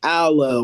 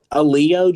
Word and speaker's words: Alao: So I just was like, you know what, Alao, cool, whatever. But a lot of people mispronounces Alao. So like, when you hear it, you might hear like Aloe or like Alan or like that. So like I walked up